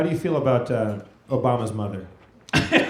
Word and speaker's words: Obama: titties I went to Obama said can I your mama he said My Name's Obama it rhymes with mama show I rote a